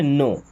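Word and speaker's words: know: डब्ल्यू इसे क्या पढ़ते हैं इसे पढ़ते है नो नो का मतलब होता है कोई चीज जानना या पता होना होना।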